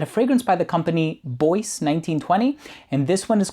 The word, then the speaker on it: Bois: and it is pronounced Boyce it's an Italian house I know boah is a French word